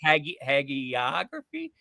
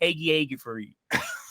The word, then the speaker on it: hagiography: Is it a hard G or a soft G? I think it's a hard G. I think it's a hard G too. But the way you just said it, there was an extra long A in there that I didn't. I always say hagiography, and you said hagiography.